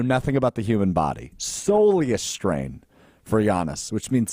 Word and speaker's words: soleus: And turns out it's a soleus, not solus.